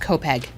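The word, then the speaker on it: Copiague: defense how it's spelled c-o-p-i-a-g-u-e of course that's pronounced kopeg why wouldn't it be okay uh so in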